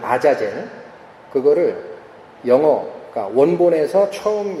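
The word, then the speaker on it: עזאזל: 원래 아잘젤이라고 되어 있습니다. 히브리의 발음이 아자젤.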